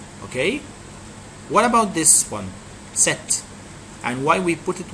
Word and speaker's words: cet: We can't say ce followed by a vowel. It will be a problem when you pronounce ce followed by a vowel. So, you need to put a consonant in between to separate the two sounds.